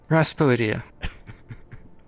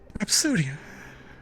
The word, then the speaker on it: Rhapsodia: I believe I heard Raspodia. No, I did not put the S before the P. I put the P before the S. Rhapsodia.